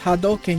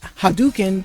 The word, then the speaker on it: Hadoken: the theoken and yes that's how it's pronounced hadoken you know do like do reaso not do but but saying haduken does sound Funny.